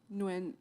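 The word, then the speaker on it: Nguyen: How do you pronounce that very common last name? Is it win? Nuin.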